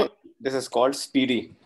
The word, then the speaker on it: SPDY: फैसल, इसकी जो प्रोनाउंसिएशन है, और this is called स्पीडी। Like हम कहते हैं ना कि इट्स फास्ट, फास्ट से जो स्पीड होता है, तो स्पीड से इसको जो प्रोनाउंस सर किया जाता है, इट्स स्पीडी। स्पीडी बिल्कुल ठीक है सर, ठीक हो गया।